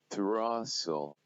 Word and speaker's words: throstle: So quickly, let's move on to some of the examples where S, T, L, E are present and then they are silent.